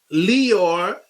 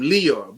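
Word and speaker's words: Lyor: Leor, that's how they pronounce his name, Leor, but no, it's a liar.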